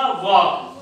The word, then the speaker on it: walk: तो देखो इसको पढ़ते क्या है, ये क्या है, इसको उच्चारण क्या करते हैं इसका? वॉक।